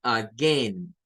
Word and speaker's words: again: Otros lo dicen con A, o sea, se pasa de esto a A y van a decir again, again, again. Suena con A, again, again, again, again, again, again. Las dos pronunciaciones son correctas.